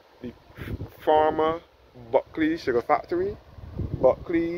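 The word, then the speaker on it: Bulkeley: Buckley is spelled B-U-L-K-E-L-E-Y.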